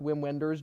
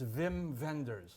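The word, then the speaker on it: Wim Wenders: oh what is it it's Vim vendors oh I just I love correcting people on that's perfect spell with W's but he pronounces it with V's interesting I like it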